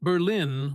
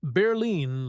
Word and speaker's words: Berlin: Berlin. Pronounced Berlin with the accent on the first syllable. Not Berlin like in Germany.